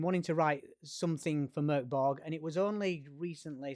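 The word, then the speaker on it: Mörk Borg: write a mkb game that is how you pronounce it I've been wanting to write something for Merk bog and it was only recently several months ago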